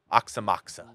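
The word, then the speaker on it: Aoxomoxoa: Number 11 is Oxymoxua. Oxymoxa. That's how it's spelled. Or that's how it's said.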